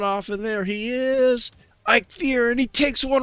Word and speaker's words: Eikthyr: I'll just call it for a long time we called him a feekier because we just kind of read it real quick and didn't really pay attention to how it's you know pronounce but now it's actually I fear now you can see